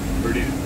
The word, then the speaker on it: Perdido: Our marina in, how do you pronounce it? Perdido? Perdido.